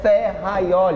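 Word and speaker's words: Ferrajoli: o sistema garantista de ferraioli atenção a pronúncia é ferraioli hum ele é representado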